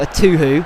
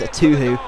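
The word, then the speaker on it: Etuhu: Zamora playing it out wide, plays it to a Tuhu. See, I know how to pronounce it now. Thank you guys, a Tuhu.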